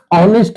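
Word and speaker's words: honest: तो इसके पहले आर्टिकल क्योंकि इज का उच्चारण जो होता है अ होता है इसलिए ये साइलेंट हो जाता है ओ होता है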